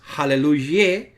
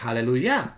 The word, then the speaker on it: Aleluya: las razones es porque no es Aleluya sino que tiene que ser Aleluya es decir la última sílaba y es acentuada esa chaval hay que